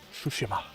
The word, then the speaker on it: Tsushima: I say Tsushima because that's who the YouTuber who I heard all about it from, that's how he pronounced it. But in the game, they pronounce it Tsushima. So I'll say it more slowly, Tsushima.